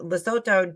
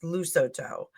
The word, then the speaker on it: Lesotho: I found out that we say Lesotho differently in America than British people say it. So I think British says Lusotho.